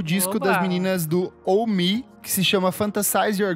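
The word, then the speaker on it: Ohmme: Primeiro, pra Elô, saiu o disco das meninas do Oh Me, que se chama Fantasize Your Ghost. É uma dupla, uma menina asiática e uma menina branca. Elas fazem um indie rock. Oh Me se escreve O-H-M-M-E.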